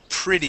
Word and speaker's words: pretty: Okay, how about the word pretty? Here we're going to use a short I sound. Instead of pretty, it is pretty.